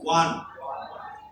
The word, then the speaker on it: one: One. I won the match. Should not say oh. One. Correct pronunciation is one.